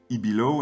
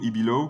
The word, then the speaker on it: Ibilow: saison Halloween qui s'appelle Ibilow. Alors en off, on avait discuté un peu de la prononciation. Donc toi tu c'est toi qui m'a dit plutôt Ibilow que Ibilo.